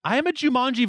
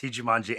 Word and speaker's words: Jumanji: Oh, I was gonna say I'll tell you why you didn't see Jumanji, and it rhymes with vagina.